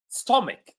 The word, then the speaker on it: stomach: So all of these words that I'm going to share with you right now, all of them have a CH which is pronounced as K.